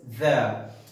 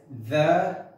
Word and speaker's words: the: And if it is before a vowel sound, it is pronounced as the. For example, the apple, the egg.